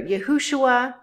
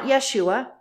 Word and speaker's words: Yahushua: a w sound okay so we have here yahushua he Bears the first three letters of his father and our father's name Yahoo transliterated here yahu it is not Yeshua in that note that name